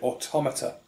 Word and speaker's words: automata: uh animals were considered automata which is the correct way to pronounce that word for all those people who have played near automata and don't realize that automata not automata while we're at it